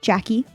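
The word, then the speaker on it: Jacqui: Okay, so that is spelled J A C Q UI. Jackie.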